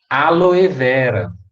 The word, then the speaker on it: Aloe vera: que me perguntaram também prazer nem é o aloe vera que a mídia também popularizou de forma errada